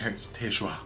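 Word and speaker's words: Tae-ju: I feel almost French, Taejuan.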